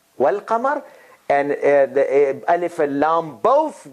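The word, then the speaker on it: والقمر: then if you connect if you connect were with lam if you if you pronounce then you have to connect wow with lam and you say well kamar and alif goes away there is no no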